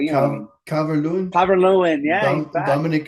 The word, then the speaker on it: Calvert-Lewin: Dominic Levin Cover. Can't pronounce his last name, but you know what I mean. Calvert-Lewin, Calvert-Lewin, yeah, he's back.